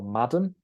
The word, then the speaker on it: Madam: So we don't spell it with an E at the end, and you stress the first syllable, not the second.